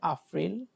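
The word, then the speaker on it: April: এপ্রিল হচ্ছে আপ্রিল।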